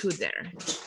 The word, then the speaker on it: kudere: could possibly approach you is kudere. How do you say? Kudere. Kudere. Yeah.